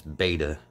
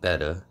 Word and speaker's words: betta: we take the the betta fish everybody says beta and it's not it's it's correctly pronounced betta well pothos is pothos and I've been sayin